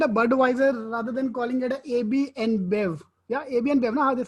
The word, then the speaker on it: AB InBev: Yeah, AB and Bev. Now, that's how you pronounce it. AB Yeah, and Bev. AB InBev, yes.